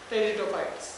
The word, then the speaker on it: Pteridophytes: पहला है थैलोफाइट्स, ब्रायोफाइट्स और टेरिडोफाइट्स। पी साइलेंट रहता है इसमें, ठीक है?